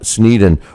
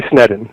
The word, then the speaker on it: Sneddon: And joining us right now is the author of that book, Sneddon.